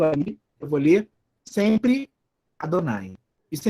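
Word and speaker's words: אדני: Então, o nome de Deus é Adonai, é assim que os judeus pronunciam, né?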